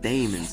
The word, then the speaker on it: Daemons: Yes, that's actually how you pronounce it. Daemons, not demons, daemons.